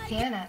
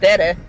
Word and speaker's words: tiene: Yo tiene tarea. Yo manejo mi carro todos los días, yo tiene escuela. Repeat it right now. Go. Tiene. Tiene. Not tere. Tiene.